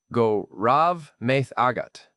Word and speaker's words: Go raibh maith agat: And I said, "Go raibh maith agat." Which is not easy. It's pronounced something like guh rev ma ah gut.